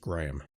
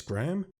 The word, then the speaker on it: Graham: It is definitely pronounced Graham. I sometimes say that name is Graham. If I do that, forgive me, I'm not good with that name.